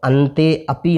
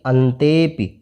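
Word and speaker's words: अन्तेऽपि: कोयम इस तरह से और अंते अपि न पढ़ कर के अंते प इस तरह से पढ़ना है प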